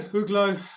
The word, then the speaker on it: Uglow: Uglow.